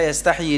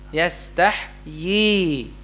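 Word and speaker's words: يستحيي: Ini saya dalam rangka menguji jemaah bisa enggak berhenti pada kata yastahyi di sini? Ya, karena bisa jadi ada yang membacanya begini. Innallaha la yastahyi. Yastahy harusnya apa? Yastahyi itu ya kan?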